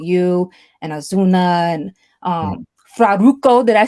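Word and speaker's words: Farruko: Fraruco. Did I say his name right? Because Cruz is Faruko, always like, you gotta pronounce it right. Faruko, yeah, Faruko.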